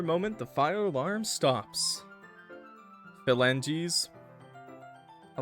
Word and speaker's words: phalanges: It's phalanges. No one wrote a J, bro. Phalanges. Phalanges. Motherfuckers, you guys out here writing geese. Phalanges. Phalanges. Wait, no, wait. I was saying it like that, though. Phalanges. Phalanges. Phalanges. It's literally G's. There's no J. She's...